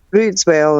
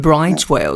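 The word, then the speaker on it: Bryde's whale: I always said bride's whale. You say it's brood's whale. I obviously didn't say it correctly. I didn't know. I thought it was bright. It's a brood's whale.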